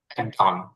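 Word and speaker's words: dawn: ডন, এটা ডাউনও না আবার ডনও না, মানে এই আকার ওকারের মাঝখানে একটা উচ্চারণ।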